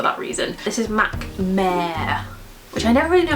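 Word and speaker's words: Mehr: This is MAC Mare, which I never really know how to say. It's spelled M-E-H-R, Mare, and it looks like this.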